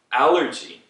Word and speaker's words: allergy: 이 G 발음은 왜 옛날부터 한국에서 왜 강한 G, 센 G로 표기했는지 모르겠어요. 옛날에 뭐 사람들이 그렇게 말했을까요? 잘 모르겠어요. 근데 지금은 allergy예요. So 단어 그 글자 G 있잖아요. 그거하고 똑같이 하시면 돼요.